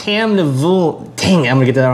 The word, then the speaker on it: Tamnavulin: It's Tamnavulin. Dang, I'm going to get that wrong. Anyway. Drink it. Don't pronounce it.